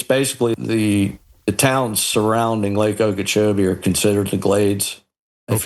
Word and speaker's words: Okeechobee: Lake Okeechobee. Okeechobee. Is that the Everglades? Are you in that part of the state? Yeah. This is the Everglades here. We're in the Glades. Basically, the towns surrounding Lake Okeechobee are considered the Glades, if you will.